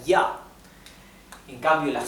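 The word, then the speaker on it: ja: del español mientras que la J del alemán se pronuncia como la i latina del español verdad un ejemplo es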